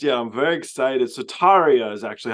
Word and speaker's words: Tarja: So Tarja is actually how you say her name.